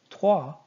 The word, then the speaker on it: trois: Trois. You're not going to be saying the S. And the O and I is going to make an wa sound. Trois.